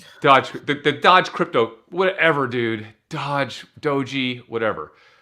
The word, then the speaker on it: Doge: It's pronounced... Doji. Dogi? Is it Dogi? Dohi. Fine, Dohi. I don't know. It's Doge.